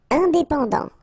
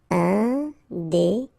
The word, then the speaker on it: indépendant: Indépendant. Final T not pronounced. Indépendant.